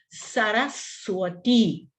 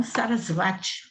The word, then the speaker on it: Saraswati: Saraswati, Saraswati, Saraswati, e não Sarasvati, ou Sarasvati, como a gente ouve às vezes aí algumas pessoas falarem, né? Sarasvati, errada a pronúncia.